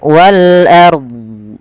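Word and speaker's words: وَالْأَرْضِ: Kemudian pada lafal ro di sini rnya kita baca dengan bacaan ro tafkhim. Ro tafhim. Ro tafkhim yaitu rnya dibaca dengan tebal. Ar wal ard wal ard.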